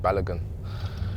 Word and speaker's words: Balogun: just told them how to pronounce my surname and I said balogun but then he said